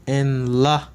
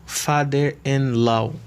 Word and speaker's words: father-in-law: nephew grandfather grandfather father father-in-law i usually see you often mispronouncing this word you often say father and lo father in love no don't say father grandparent grand parent